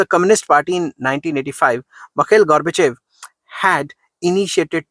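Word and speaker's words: Gorbachev: Reform plans of मखैल गॉर्बेचोव। जो मखैल गॉर्बेचोव थे, इन्होंने काफी इंपॉर्टेंट, गॉर्बेचोव कहना गॉर्बेचेव है, बेसिकली प्रोनाउंसिएशन में फर्क है क्योंकि रशियन नाम है।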